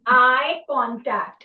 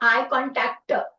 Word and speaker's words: eye contact: Yes, eye contact. And one more thing I have noticed that you people put lot of stress on the last letter. Okay, it's eye contact, not eye contactor.